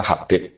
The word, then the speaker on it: Habib: Itu di harokatnya kitab, itu ada yang nulis Hubab. Yang benar, yang benar itu bacanya Habib.